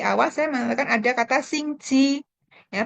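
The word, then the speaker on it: 星期: Tadi di awal saya mengatakan ada kata Xingqi. Ya, bacanya Xingqi.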